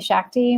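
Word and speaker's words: Schachte: and Twitter at Shakti my last name is very german and very hard to pronounce it's like you're in a shack drinking tea SCH bc HTE and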